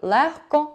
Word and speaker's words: легко: Виняток становить звук «г», який у слові «легко», «вогко», «нігті», «кігті», «дьогтю» і «дігтяр», і в похідних від них вимовляється як звук «х».